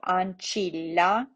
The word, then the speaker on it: ancilla: nice for us uh double consonants you're going to pronounce both of them so ancilla comito right so all